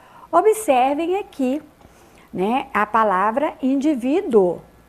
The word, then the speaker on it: indivíduo: aqui né a palavra indivíduo é paroxitona acentuada na penúltima né paroxítona lembrando é